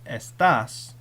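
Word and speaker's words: estás: But accent marks tell you how to pronounce the word. So for example, if you were to remove the accent mark from estas, if you get rid of it, now the word is estas. Estas means these.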